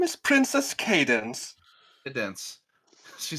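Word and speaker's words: Cadance: assume it's wrong so her name is spelled c-a-d-a-n-c-e yeah um but it's pronounced in the show as cadence yeah but the word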